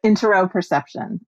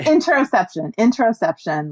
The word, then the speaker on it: interoception: Interoperception. Interoperception. Oh, sorry. I said it wrong. Oh, okay. Interoception. Like interoception. Yeah, we got it.